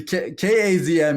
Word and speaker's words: Kazm: yeah, well, the the Kazm is how we spell it. That's not the way it's normally spelled, but for us, it's named after chasm, CHA. Oh yeah.